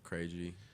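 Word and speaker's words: Krejci: out oh man it's just my last name crazy k r that's your rap name crazy that's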